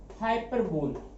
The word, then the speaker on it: hyperbole: ठीक है, अगला है 6 हाइपरबोल। अब जरा इसका प्रोनाउंसिएशन देख लेना। हाइपरबोल तो दिखने में लग रहा है, लेकिन इसको हम बोलते हैं हाइपरबली।